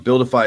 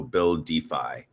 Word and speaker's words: BuilDeFi: So um Buildify is spelled Well, you can see it on this stream here, guys, if you're looking, but it's BU LDFI. So build defy.